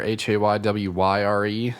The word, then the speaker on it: Haywyre: Haywire, Haywyre, not how you would think it's spelled.